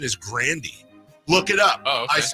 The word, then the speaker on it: Grande: According to Ariana Grande, the proper pronunciation is Grandy.